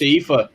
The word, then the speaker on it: Aoife: I've just realised that's pronounced Aoife, isn't it? Yes, it is. Okay. I have a friend in Ireland with the same name, and I was thinking, That's Aoife.